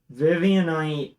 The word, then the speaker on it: Vivianite: Vivianite is like fucking Viv Knight, 4 syllables.